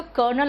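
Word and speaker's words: colonel: कर्नल में आर नहीं होता और लेफ्टिनेंट में एफ नहीं होता। इससे सही प्रोनाउंसिएशन है तो कर्नल और लेफ्टिनेंट।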